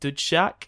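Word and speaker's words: Dzsudzsák: to have to be, is it Dudshak? Is that how you pronounce it? Yeah. Okay, I got that. I didn't want to mess that up. It's good you pronounce that right, because we don't want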